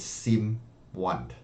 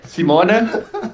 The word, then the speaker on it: Simone: All right, let me tell the world your name is Sim1. It's kind of not. It's pronounced Simone. Italy pronunciation is a little bit different.